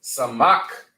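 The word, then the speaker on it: סמך: is disconnected you know pronouncing them right also lets you know that as well you not pronouncing it as samaka you're pronouncing it as samak okay samak all right our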